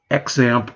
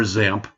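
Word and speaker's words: XAMPP: called xpp which is pronounced either xamp or examp depending on the book you read all right and when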